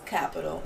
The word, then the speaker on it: Qapital: It's pronounced. It's Qapital. It's definitely Qapital. It's a big old Q, guys.